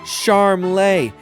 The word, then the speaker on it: Charmley: He seems to prefer Charmley, like he's some kind of foreign aristocrat, but he's a lot close to charmless, if you'd ask me.